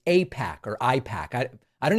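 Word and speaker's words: AIPAC: To pretend that he doesn't know what Apac pretending doesn't know what APAC pretending it could be pronounced IPAC is just insulting to anyone who follows this channel.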